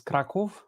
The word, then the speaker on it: Kraków: I mean, if you say it in Polish, it's Krakow.